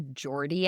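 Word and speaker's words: Geordie: So, it's a Jordy accent spelled like the name George but d i e at the end.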